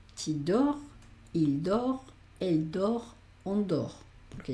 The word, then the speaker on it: dort: En los verbos aquí diríamos dor, la T no se pronuncia.